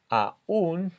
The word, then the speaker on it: aún: hemos visto la palabra aún, ¿cierto? Con tilde tiene dos sílabas, ya que la tilde está sobre la vocal débil, dándole aún más fuerza y formándose así un hiato.